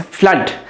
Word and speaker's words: flood: नहीं बोलना है, फ्लूड नहीं, इट्स फ्लड. सो इन फ्लड we have cut sound.